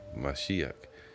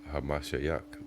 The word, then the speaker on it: Hamashiach: And the fake Jews, they say Mashiach, which is Yiddish. It has nothing to do with the true Hebrew. So the proper way to say it would be Hamashiach, which means the anointed.